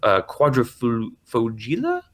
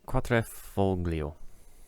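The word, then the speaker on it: Quadrifoglio: Quadrifugila? That was How do you pronounce that? Nathan, where are you at? that was Quatrefoglio.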